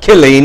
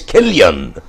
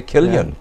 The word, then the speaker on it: Killeen: And I used to have to tell them, they'd come up and say, at Killeen today, I says, not Killeen, it's Killian. Could I get them to say Killian?